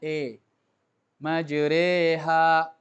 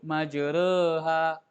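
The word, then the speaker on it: مجريها: malah nyalahin malah Kubro jadi bacanya e-maju reha jangan Antum sebut majreha gitu ya Ah ini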